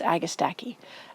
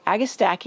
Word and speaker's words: agastache: Well, I hope you enjoyed this video, and I wanted to add one more, and that's agastache. Agastache or agastache, there's many ways people pronounce it.